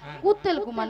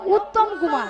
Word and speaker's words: উত্তম কুমার: শ্রী শ্রী শ্রী শ্রী শ্রী শ্রী শ্রী শ্রী কুত্তেল কুমার নয় বলো উত্তম কুমার উত্তম কুমার হ্যাঁ মিয়া আপু আমি কুত্তেল কুমার